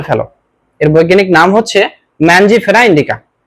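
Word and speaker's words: Mangifera indica: এর বৈজ্ঞানিক নাম হচ্ছে ম্যানজিফেরা ইন্ডিকা। নামের উচ্চারণের দিক থেকে কেউ ম্যাঙ্গিফেরা বলে, কেউ বা ম্যানজিফেরা বলে, সমস্যা নেই।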